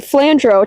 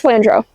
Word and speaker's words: Flandrau: So I'm going with flandro.